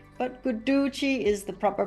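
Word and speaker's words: Guduchi: finally we're coming to guchi some people say guchi but guchi is the proper pronunciation according to the Sanskrit gramar it's also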